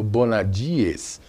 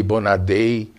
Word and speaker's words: Bonadies: então tem Muita confusão meu nome mesmo bonadies é muito tem tem várias versões aqui no Brasil viu Eh eu já escutei Bonadei bonada enfim eh Bonavides e